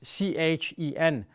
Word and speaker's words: chen: German very often has these four letters C-H-E-N, chen, in the end.